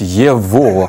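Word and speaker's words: его: а росіяни не чудять пишуть єго а вимовляють єво або пишуть что А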